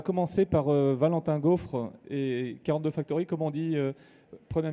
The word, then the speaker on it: 42 Factory: Non, généralement en France on dit 42 Factory, hein, sinon les gens ne comprennent pas, et 42 Factory.